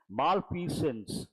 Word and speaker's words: malfeasance: allegations of corruption and malfeasance that's a new word put a star Mark malpi sins that's how you pronounce it malfeasance means a wrongdoing